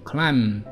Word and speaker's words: climb: 第十八个 Climb，注意 Climb 这个 B 不发音， B 不发音，所以只有发 CLIM Climb K The I like Climb